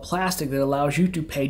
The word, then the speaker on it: Plastiq: so what is plastic plastic with a q just so you know i didn't spell it wrong it is with eq